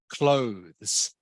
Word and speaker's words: clothes: one here is pronounced clothes okay not clothes it's pronounced clothes can you say that please Vietnam close good close so the E the E is silent so it's closed um